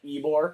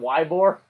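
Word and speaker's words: Ybor: of stuff before sure have you seen how they pronounce the city of eore Florida no y b o r yeah yeah eore eore yeah eore City yeah why that isn't just pronounced Yore because it's eore why would you think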